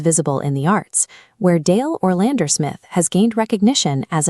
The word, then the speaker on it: Dael: The name Dael, pronounced Dael, possesses a sharp, two-syllable, gender-neutral profile that fits the current naming landscape.